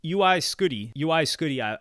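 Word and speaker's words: UY Scuti: Number one, the album seems to be called UI Scuddy, I believe it's pronounced, not Uwe.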